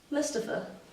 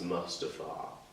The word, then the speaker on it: Mustafa: Mustafa. Actually, it's pronounced Mustafa.